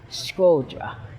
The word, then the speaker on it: Shkodër: Shkodër is what the locals call it, but Shkodër, I can pronounce it right. It's Shkodër. There it is. With the sh.